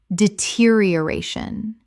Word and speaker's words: deterioration: homogeneous homogeneous Word 292 deterioration Common mispronunciation deterioration Correct pronunciation deterioration Six syllables with the stress on the fourth.